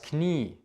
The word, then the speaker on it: Knie: dass sie lange auszusprechen zb das knie es ist nicht klar es ist das knie dieses wird lang ausgesprochen was auch sehr sehr